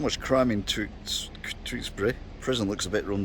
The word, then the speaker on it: Tewkesbury: Tewkesbury.